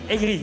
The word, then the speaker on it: Aigris: oui c'est impressionnant donc l'équipe aigriis aigris ils sont vraiment aigris c'est vraiment leur nom on prononce pas le S mais effectivement énormément de